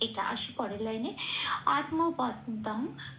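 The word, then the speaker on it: আত্মবন্তং: কিন্তু এখানে এই শব্দটা শেষে অনুস্বর আছে, শব্দের শেষে অনুস্বর থাকলে 4 নম্বরে তালিকাভুক্ত করে দেওয়া আছে, ময় হসন্ত দিয়ে সেটা সবসময় প্রতিস্থাপিত হয়ে যায়। ময় হসন্ত দিয়ে প্রতিস্থাপিত হয়ে তাহলে শব্দটার উচ্চারণ হলো আত্মবন্তম, এটা ন পূর্ণরূপে উচ্চারিত হবে তারপরে অক্ষর।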